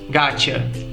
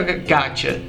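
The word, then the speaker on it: gotcha: to get a gaa Perceba como a gente pronuncia essa expressão gaa O que significa gataa G nesse caso quer dizer Got You que também é uma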